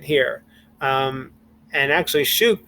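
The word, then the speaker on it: שוק: And actually, shuk would be one whole syllable.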